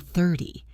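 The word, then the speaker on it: thirty: distinguishing between 13 and 30. This is a classic problem. 13 has the stress on the second syllable. 13 30 has the stress on the first syllable. 30.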